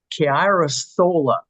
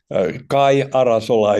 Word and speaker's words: Kai Arasola: Chiarasola, am I pronouncing that fairly well? Tell us more about all it. right, yes. Yeah, thank you. What's your question? Kai Arasola is the real Finnish way, but never mind.